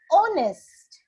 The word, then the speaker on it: honest: All right, so since H, the sound of H is not there, which sound am I getting?